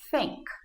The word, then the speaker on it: think: d ou s f para pronunciar esse som você vai aproximar sua língua do céu da sua boca e vai colocar ela entre os seus dentes assim think that these vai tentando aí que